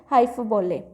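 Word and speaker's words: hyperbole: Next है हाइपरबोले। इसको हाइपरबोले हम ज़्यादा मतलब मीनिंग समझने के लिए करेंगे, वैसे इसकी प्रोनाउंसिएशन होती है हाइफबोले, हाइफबोले।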